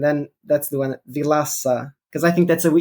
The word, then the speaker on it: Vilaça: your name correctly yeah as I would say vilasa is how you say it it's outside the first name is quite vashku so is fine but it's more the last name that they go vilacha or vilaka and then that's the one